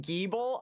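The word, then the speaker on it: Gible: There's a third option, Geeble. All right, people who say Geeble are better.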